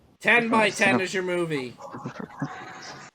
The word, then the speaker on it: 10 x 10: gets lower all right 10 by 10 is your movie 10 by 10. the title says it is 10 x 10. that's how we pronounce it okay give me